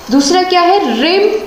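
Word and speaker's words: rhyme: रिम and style of the poem. H यहाँ पर silent रहेगा।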